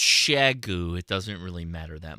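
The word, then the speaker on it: Xiegu: Yeah, so it's pronounced Shagu.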